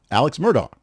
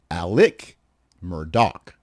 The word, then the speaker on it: Murdaugh: Alex Murdaugh, who is the prominent South Carolina attorney who